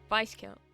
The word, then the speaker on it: viscount: Vice count. Biscount. Vice count. Biscount. Vice vis. The S is silent.